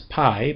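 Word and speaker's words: π: this as pi, but it's not pi in the Aaspian pronunciation. It's P, which is kind of funny in English, but, you know, we'll go with it. And it does have um a P sound as in peach.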